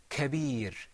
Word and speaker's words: كبير: كبير Osama, that kaf, was it muraqqaq or mufakham? مفخم. Mufakham? Okay, let me ask Abu Yusuf, what do you think? I think that it is مرقق How do you know? because this letter is not from the مفخم letters, and also you put your corner of your mouth back.